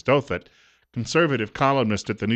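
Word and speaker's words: Douthat: honest Americans don't 917 rasa dutat is the way that's pronounced on The Rush Limbaugh program I hear the name otherwise is dothat conservative columnist at the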